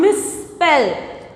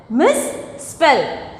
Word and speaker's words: misspell: Next one, misspell. Misspell. So, we are pronouncing as double.